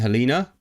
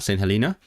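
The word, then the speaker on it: Helena: us and crown crown dependencies right San Helina St. Helina. I know it's pronounced Helina cuz I listen to the Wendover Productions podcast and so they are not part of the UK.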